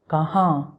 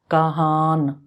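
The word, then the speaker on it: کہاں: Udu it mean where kaha kah so we start pronouncing this n but we don't finish it kaha if you pronounce the full n it will be Kahan Kahan say slowly Kahan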